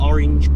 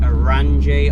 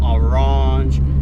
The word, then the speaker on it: Orranje: let's get straight to its orange performance as in the colour so i've heard people call it orangey orange it's definitely orange performance